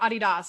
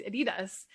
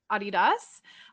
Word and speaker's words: Adidas: is adolf dossler and the name is actually um a blending of his first name and his last name so adi das because he went by